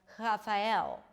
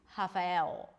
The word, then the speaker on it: Rafael: a H sound, like Rafael, like an H sound. So actually there is an H, it's just pronounced as an R. Rafael, a good friend of mine, his name is Rafael from Brazil.